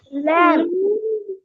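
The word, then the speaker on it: lamb: எல்ஏ எம்பி எல்ஏம்பி லேம் லேம் only லேம் நாட் லேம் பி சொல்லி பாருங்க because நாங்க அத சொன்னாலும் எங்களுக்கு சொல்ல கஷ்டம் கஷ்டப்பட்டுதான் சொல்லணும் லேம்ப் சொல்லி பாருங்க எக்கு அடுத்து பி வர நேரம் லேம்ப் தட் இஸ் சம்திங்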